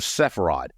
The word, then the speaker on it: Sepharad: Am I pronouncing that properly, Sepharad? That's correct. Okay. South of Sepharad.